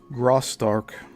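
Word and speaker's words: Graustark: Although the SNA produced feature Graark spelled G R A U S T A R K from 1915 was a smash hit.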